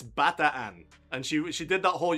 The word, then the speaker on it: Bataan: And the tour guide, who was fucking gorgeous, came up to me and she was like, okay, darling, it's Bataan.